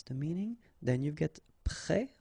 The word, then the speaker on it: prêt: Then you've got prêt like that, so final S, but then of course you don't pronounce it.